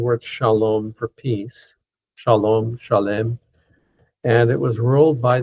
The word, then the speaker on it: Shalem: More properly, Shalem. Shalem would be the correct pronunciation, but most people say Salem.